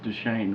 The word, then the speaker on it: Duchesne: the fort duchesne area it's duchesne right yes yes you gotta get the pronunciation right you know i am